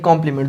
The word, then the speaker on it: compliment: एक कॉम्प्लीमेंट ये होता है, शायद आप लोगों ने देखा होगा, COMPLIMENT कॉम्प्लीमेंट। दोनों का मतलब जो प्रोनाउंसिएशन है वो सेम है, कॉम्प्लीमेंट और कॉम्प्लीमेंट।